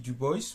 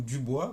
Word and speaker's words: Du Bois: WB du boys ou du bois, on peut prononcer à la français.